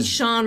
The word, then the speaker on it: Shaun: I mean, Shaun rhymes with Dawn.